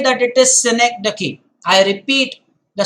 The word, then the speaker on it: synecdoche: The next one is synecdoche, and I want to come on camp. It's important. Synecdoche, the pronunciation again. Synecdoche, Synecdoche. Do not pronounce it in any other way.